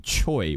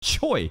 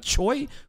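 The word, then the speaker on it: Choi: Guild leader CH again the Korean way of pronounciating Choy which is like if you're an English speaker and you see c h oi you're going to think Choy right it's Cho but it's actually CH which is so weird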